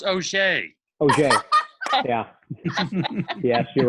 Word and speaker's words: Auger: You always introduce her as Auger. Hmm. But her last name is pronounced Auger.